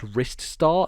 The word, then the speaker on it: Ristar: was something that said it's pronounced Ristar, as in like your wrist.